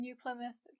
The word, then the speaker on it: New Plymouth: I know for some learners the TH sound, th, in New Plymouth can be a little tricky, so let me share a quick tip. To make th, you need to put your tongue between your top and bottom teeth, like this. Then blow air.